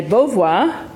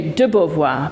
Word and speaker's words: Beauvoir: tonight one is that when you talk about Simon De Beauvoir and you just say borvoir you don't say debovoir because in French double if you've got two syllables in the surname Beauvoir you don't need the DU as distinct from De Gaulle and the second one